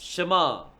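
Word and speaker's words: שְׁמַע: ये तीनों अक्षर को कैसा प्रोनाउंस करेंगे we pronounce the three letters शमा शमा शमा करके बोलना है वी प्रोनाउंस इट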